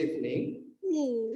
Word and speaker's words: evening: Jadi ini teman-teman untuk cara bacanya kita nggak pakai evening, itu kan 3 syllables ya, 3 suku kata. Harusnya dia cuma 2, evening.